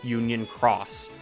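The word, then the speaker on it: Union χ: But once the story had caught up, the title was changed to Kingdom Hearts Union Cross. This time the X is pronounced cross.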